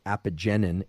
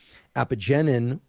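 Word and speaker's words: apigenin: i got a lot of questions about is apogenin i a-p-i-g-e-n-i-n epigenin if you look in the literature the way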